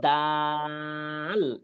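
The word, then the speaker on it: دال: তিনটার সাউন্ড বাংলায় আছে এটা কি বলেন দ সাউন্ডটা আছে এটারও একই সাউন্ড দ তাহলে এটা উচ্চারণ হবে দাল প্রথম মানে কি ডাল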